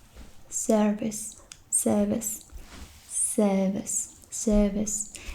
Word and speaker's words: Servus: hello, and then it's service, service, service, service. It's like you would say it, but you don't really say it. I mean the R.